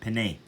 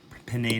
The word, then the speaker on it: penne: sorry about that guys i said pin noodles they're penne they're pronounced pene noodles i'm going to eat